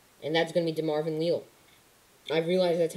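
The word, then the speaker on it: DeMarvin Leal: pure run stopper and that's going to be de marvin leo i've realized that's how you pronounce his name de marvin leo um i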